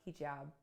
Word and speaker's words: hijab: I'm here today with Eric Smith-Gunn, creator of Hijab.